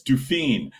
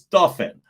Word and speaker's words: Duffin: No, that's Dufine. No, it's Duffin.